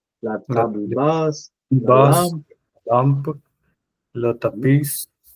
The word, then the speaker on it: tapis: lampe, le tapis, Non, on ne prononce pas la S, c'est tapis.